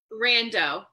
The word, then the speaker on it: Rando: Rando.